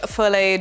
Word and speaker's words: fillet: So now you have filleted your bottom centering ring and your top centering ring. And yes, I know it's pronounced fillet, but filt is more fun.